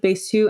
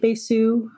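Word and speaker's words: Bécu: I've heard both. I've heard Bessu and Becu. I like Besu. I think that's the more accurate pronunciation.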